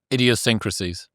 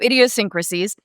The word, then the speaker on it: idiosyncrasies: that word for me idiosyncrasies idiosyncrasies I think so it's it's one extra syllable I keep putting in there so idiosyncrasies essentially you want somebody